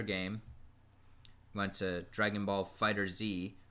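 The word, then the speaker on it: FighterZ: went to Dragon Ball Fighter Z which he mispronounced it when he announced it he said Dragon Ball fighters and the winner is Dragon Ball fighters no it's fighter Z calm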